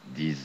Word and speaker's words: dix: Перед согласными X не произносится. Ди, но произносится как Z перед гласными. Dix hommes, и как S в конечной позиции. Ils sont dix.